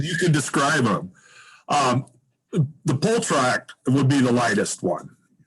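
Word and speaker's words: półtorak: Yeah, I'll pronounce them, and then you can describe them. The Poltrak would be the lightest one.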